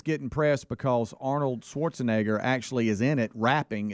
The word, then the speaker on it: Schwarzenegger: name correctly careful care you got to be very careful with it swarzenegger Schwarzenegger Schwarzenegger Schwarz Arnold Schwarzenegger that's it I got it all right so it